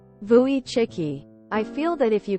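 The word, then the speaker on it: Wojcicki: course she pronounces it the English way woii instead of the Polish way vuy chicky I feel that if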